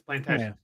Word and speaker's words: Plantagenet: Yeah, because they think it's French, so they leave the T off. No, it's Plantagenet.